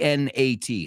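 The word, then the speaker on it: gnat: circumcise a and is a word with a silent g g n a t henen mosquito it's a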